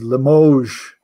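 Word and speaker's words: Limoges: I know how to say it it is Limoge France so that's nice five pieces of Limoge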